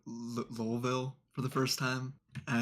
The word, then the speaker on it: Louisville: So some people say Louisville like L-U-L, but I say it like almost like L-O-U like Louisville.